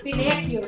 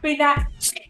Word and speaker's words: Pinocchio: It's Pinocchio. So I'm learning from my co-host, madam, how to pronounce Pinocchio. I thought it's Pinocchio.